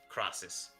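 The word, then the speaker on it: Krasis: How do you spell that? K R A S I S crosses.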